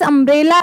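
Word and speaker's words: umbrella: सबसे पहले हम देख रहे हैं यू है। सबसे पहले यू है। और जब यू का उच्चारण हो रहा है तो किससे हो रहा है? अ से ना कि य से।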